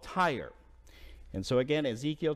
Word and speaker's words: Tyre: up with verse 2 now tyre is different than the tyre that we're accustomed to which is TI re but it's t y r even though it's pronounced the same tiya was a very powerful